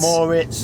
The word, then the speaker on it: Moritz: Moritz, that's how you pronounce it, according to Google.